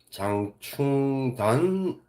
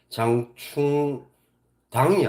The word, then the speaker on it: 장충단: 발견한 건 뭐냐면 어 저 배호 씨가 배호 선생이 장충단이라고 발 말음 발음을 하는 거예요 장충 당이 아니고 왜냐면 이게 좀 다르죠